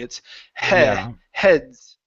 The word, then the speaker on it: heads: Okay, close the mouth just a little bit more before the short e. It's heads. Heads.